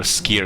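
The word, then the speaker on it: skyr: it you're missing out foreign is pronounced skier it's really good it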